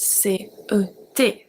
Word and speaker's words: ces: We have C-E-S pronounced C.